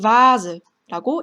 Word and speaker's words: Vase: 마찬가지로 der Vogel, Voll 이렇게 독일어 단어에서는 V가 이렇게 F 발음이 확실하게 나는데 이 die Vase 이거는 프랑스어에서 넘어온 단어라서요. die Vase가 아니라 die Vase라고 읽습니다.